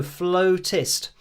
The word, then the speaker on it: flautist: uh dcmc says uh you say it like you dropped a hammer on your toe flow test um or Fuller artist